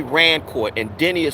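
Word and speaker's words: Rancourt: His name is Denny Rancort. And Denny is spelled D E N I S Rancort.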